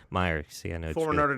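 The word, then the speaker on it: Mirer: Rick Mirror, who's an NFL quarterback. Did I pronounce that right? Meyer. Meyer.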